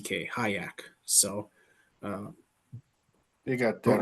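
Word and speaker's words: Hyak: Hayak Motorsports um spelled h y a k pronounced h a haak so uh you got that and spit on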